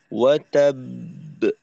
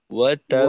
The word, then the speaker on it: وتب: এটা এই এই কলকলার আওয়াজের যে দুইটা অংশ, মাঝের অংশটা আরেকটু লম্বা করব, অর্থাৎ নীরবতাটাকে। তাব, তাব, কারণ এখানে যেহেতু দুইটা হরফ, দুটোটা হরফকেই আমাদের সময় দিতে হবে, সুতরাং সময়টা দ্বিগুণ। তো উচ্চারণটা হবে ওয়াতাব, ওয়াতাব। ওয়াতাব তাব ওয়াতাব মাঝের সময়টাকে স্বাভাবিকের থেকে একটু বড় করা, সাথে এই নীরবতাটাকে।